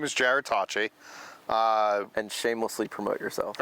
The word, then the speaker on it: Jarrod Tocci: I'm my name is Jared Tachi uh and shamelessly promote yourself okay thank you um it spelled like Gerard but j-a-r-o-d-t-o-c-c-i um I run a